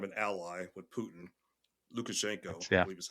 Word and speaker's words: Lukashenko: Lukashenko, I Yeah. believe is how you pronounce his name, and he's been there for a long time.